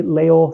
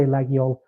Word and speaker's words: Laguiole: Some places say Laol, some places say Laguiole. Both pronunciations are used in France.